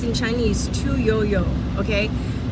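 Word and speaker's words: Tu Youyou: Her name is Tuyou, pronounced in Chinese Tu Yo Yo. Okay, a yo is pronounced, it's spelled you.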